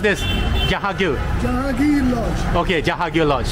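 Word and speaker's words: Jahangir: How do you pronounce this? Jahagir.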